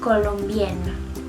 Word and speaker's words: colombienne: Pero como es una mujer, se agrega doble N y una E al final y se pronuncia Je suis colombienne.